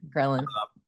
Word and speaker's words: ghrelin: when you do skip breakfast, the hunger hormone ghrelin, did I pronounce this correctly? Yeah, ghrelin.